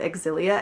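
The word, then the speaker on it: Xillia: Japanese trailers for it the more I heard exilia and I was like oh crap I've been saying it wrong this whole time right so I feel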